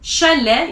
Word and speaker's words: chalet: t at the end chalet you don't pronounce the t at the end and at the end